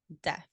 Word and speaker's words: Def: So what is Def? It's DEF in case thank you. sounds like sounding death. like death. Yeah. Right. That's my bad. Def. So Def is JB's singer, songwriter, producer persona.